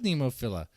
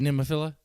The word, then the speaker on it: Nemophila: this Nemo Fila it I guess it is pronounced Nemo Phila Nemo filla it is Nemo filla I just say that's weird but nimafila Nemo Phila so even I was wrong it's Nemo filla looks like even the